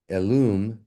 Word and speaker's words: elm: The common people sometimes pronounce the English word elum, which elun is right there, which is nearer to the Hebrew than our more civilized pronunciation.